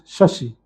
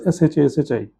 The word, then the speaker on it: Shashi: But there they use the Sanskritized form of the name, that is Shashi. And that they spell it s h a spell it as s h a s h i.